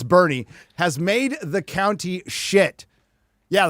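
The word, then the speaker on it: Boerne: I used to call Well, because Bernie is spelled B O R N E, so I called it Bjornney or something like that. It's Bernie has made the county Yeah, the Californians, DJ.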